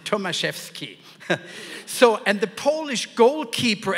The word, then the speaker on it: Tomaszewski: is actually polish background you wouldn't know how to pronounce it tomaseski so and the Polish